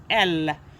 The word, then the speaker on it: elle: It's pronounced as elle.